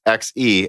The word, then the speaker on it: Xe: my videos, reminded me, Intel XE is set as individual letters, XE as in X to the power of E. I don't think Z sounds better.